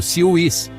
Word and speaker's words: CIWS: Pronunciado CIWS, este é um canhão Gatling, guiado por radar capaz de disparar milhares de projéteis perfurantes de 20 mm por minuto.